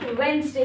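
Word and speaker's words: Wednesday: वेडनेसडे होगा। वेडनेसडे। यहां पर डी नहीं एन एस साइलेंट है।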